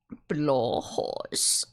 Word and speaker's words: Blåhaj: Blahoj is how it is said in Swedish. Yeah, okay then. Blåhaj. Blue High?